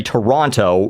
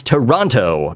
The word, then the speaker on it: Toronto: I'm apparently is not I not supposed to say Toronto everyone gets pissed off when I go oh it's Toronto because that's you know that's how it's spelled and that is how you're supposed to say it but locals don't say it that way so the idea is that if you're from Ontario you say Toronto right in the same